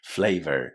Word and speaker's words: flavor: Again, as you can hear, I'm not pronouncing the final R a as this is characteristic of the British accent. But if you speak international English, you should definitely say flavor with a R at the end.